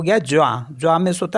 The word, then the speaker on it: joint: For example MOINS, तो इसको पढ़ते हैं मुआ, क्योंकि लास्ट का जो एस है वो साइलेंट होता है, तो मुआ। मुआ मीन्स होता है लेस। JOINT, तो ये हो गया ज्वा।